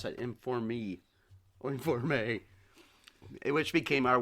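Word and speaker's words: enforme: I think they actually pronounce the E's at the end of the words.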